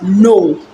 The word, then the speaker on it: know: they pronounced they they pronounce the word as no is the same as n o now in this case we are talking about a k n o w k n o w okay it's pronounced as no you can as well pronounce it the same as n o like no no go okay so the right pronunciation there is no in most cases like